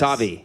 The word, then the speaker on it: Sauvey: Sauvey. Sauvey. Oh, Sauvey, come Sauvey. on. Hey, right at the it's- end on the last syllable? It's French. Come on, man. It's French. Sauvey works. Sauvey.